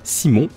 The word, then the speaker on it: Simon: Ensuite Simon, je dirais Simon pour le prononcer un peu plus à la française, qui jouera Imoti pour